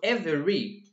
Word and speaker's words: every: syllable here Evie and here e ry so every two syllables in English 4 3